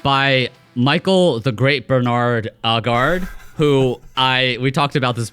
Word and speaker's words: Aagaard: Because if I say Aagaard, people immediately say ogre, which is not too flattering.